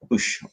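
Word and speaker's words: Boushh: It's Leia as Bouche, or Bosch, depending how you pronounce it.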